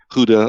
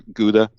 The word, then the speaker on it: Gouda: so a Dutch cheese it's spelled gio UDA but it may be pronounced differently Gouda or Gouda and it's um as